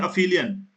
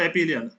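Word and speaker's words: aphelion: Same happens at द पेरिलियन एंड अफिलियन, नॉट एपिलियन, अफिलियन, याद रखना pronunciation भी। अफिलियन।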